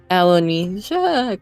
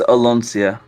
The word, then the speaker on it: Aloncia: the command spell on Elanesia. God, you've already said her name so many times and I'm not confident with my pronunciation. It's okay. It's Aloncia. Aloncia. It wasn't close at all.